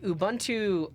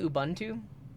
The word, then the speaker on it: Ubuntu: Ubuntu here's the thing if you speak English and you pronounce this as an English speech speaker uh the U is a short u sound because it's followed by two consonants if it was followed by consonant and then vowel like if there was